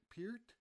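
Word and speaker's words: Peart: as uh you know we always called him per Neil per apparently we were pronouncing it wrong apparently it was P Pier not sure uh but we also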